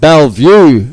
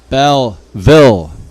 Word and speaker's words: Belleville: my South African pronunciation it's not Bellevue football club it's Belleville and I'd like to